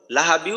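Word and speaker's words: لَهَبٍ وَ: তবেই এক আলিফ আবি আবি আবি আচ্ছা এরপর লাহাবিউ এখানে ঈদগামে বাগুন্না লাহাবিউ লাহাবিউ লাহাবিউ লাহাবিউ লাহাবিউ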